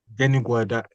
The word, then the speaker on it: Denigwe: Denigwe, that's the Denigwe.